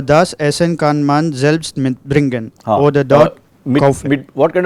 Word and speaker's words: mitbringen: Separable verb, always when we are pronouncing a separable verb, especially when it is together, always the stress is on the prefix and not on the verb.